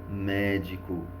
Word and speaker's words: médico: e na letra c qual é a única palavra com a sílaba tônica é a antepenúltima sílaba é a palavra médico ou seja ela é uma palavra proparoxítona até aí tudo tranquilo